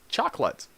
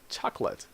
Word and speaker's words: chocolate: See, you say the cha. This here is the sound of K, chalk. And this LATE is like let. You don't pronounce this. So you don't say chocolate. You say chocolate.